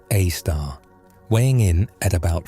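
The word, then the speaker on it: Sagittarius A*: Our galaxy is built around a super massive black hole called Sagittarius A, pronounced A star, weighing in at about 4 million solar masses.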